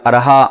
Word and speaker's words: ارحاء: نے فرمایا کہ بھائی ارحا نام کا معنی بتا دیں، ارحا نام رکھنا کیسا ہے؟ تو ارحا کا صحیح تلفظ سن لیجئے، یہ ارحا ہے، ارحا الف کے زبر کے ساتھ، تو اس کو ارحا